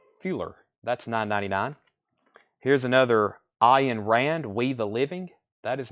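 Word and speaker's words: Ayn Rand: Road another science fiction novel 9.99 is this pronounced I in Rand anthem that's 9.99 that's a science fiction novel operating manual for spaceship earth book Minster feeler that's 9.99 here's another I in Rand we the living that is 9.99 and Rand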